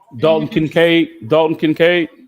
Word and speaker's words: Kincaid: Dalton Kincaid. Yes, Kincaid. Yeah. I could not pronounce the last name, but Kincaid.